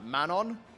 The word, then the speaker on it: Manon: This is a Dutch name. Is Manon.